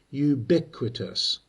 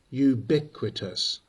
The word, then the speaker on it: ubiquitous: First, listen carefully to the pronunciation. Ubiquitous. The stress is on BIK. Try it once with me. Ubiquitous.